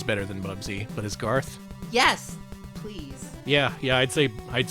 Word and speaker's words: Garth: I don't know why I mispronounced Garth there, whatever.